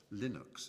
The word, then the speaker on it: Linux: It was known as Linux, or Linux, as some people pronounce it.